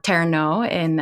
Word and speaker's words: terno: Now, you've heard me talk about the Turno before, or Terno with the Filipino pronunciation.